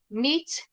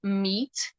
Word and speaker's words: meet: So meet, you just have to say it like extending the letter E. So it's meet, meat. Basically, it's like you say the same word meat, the thing that you eat, like carne.